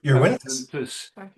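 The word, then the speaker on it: Yr Hwntws: And that's pronounced your your Was um or hunters.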